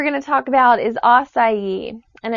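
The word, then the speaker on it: açaí: next superfood we're going to talk about is oai and it's spelled AC Ai and you may have started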